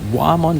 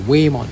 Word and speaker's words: Whamon: Mon's profile so this is wayon I keep pronouncing it won because of the way it's spelled but actually it's supposed to be wayon so case in point let's look at atmology